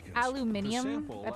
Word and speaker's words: aluminium: fahrenheit a portion of aluminum is poured into this small mold to make it almost like how the british say aluminum aluminium this trough is used to